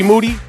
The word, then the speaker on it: Moody: I'm here with Moody, whose last name rhymes with duty.